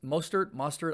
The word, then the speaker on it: Mostert: Raheem Mostert is Mostert. I always say it wrong.